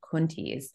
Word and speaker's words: Coenties: Willem de Kooning actually told Jack Youngerman that it should be pronounced Coenties, but Coenties has stuck with us and perhaps allows a little more for that contraction of two people as well.